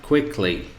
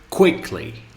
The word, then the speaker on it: quickly: If we talk about adverbs, for example, we have quickly. So we say quickly, quickly, quickly. So this, the first syllable, is the place of the stress.